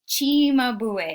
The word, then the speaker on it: Cimabue: uh seema no it's chimabue in italian the c is pronounced like a ch and the title of